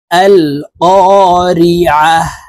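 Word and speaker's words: القارعة: সূরাতুল করিয়াহ মক্কায় অবতীর্ণ হয়েছে বিসমিল্লাহির রাহমানির রাহিম আল কারিয়াহ আইন কে হলকের মধ্যখান থেকে চাপ দিয়ে উচ্চারণ করতে হবে আর এখানে গোলতা আছে দেখুন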